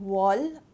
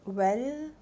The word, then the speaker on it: Wahl: It is from the brand Wall, or Well, WAHL. Just pronounce it for me, okay?